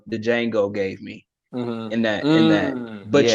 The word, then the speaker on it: Django: The D is silent, Django.